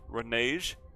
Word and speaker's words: renege: Renege? Renege? I'm looking it up. How do you pronounce this shit?